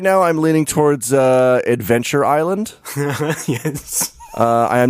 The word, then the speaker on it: Isla: Well, in Spanish, it is pronounced Isla, which means island.